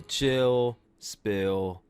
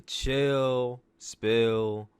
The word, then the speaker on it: Chill Spill: We're talking about that all here and more on this, the 37th edition of the Chill Spill podcast. The S is silent, by the way.